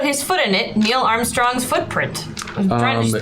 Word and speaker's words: Armstrongs: Okay, because Armstrongs has to be Armstrongs or Armstrongs? Do you see what I would say? It's two syllables.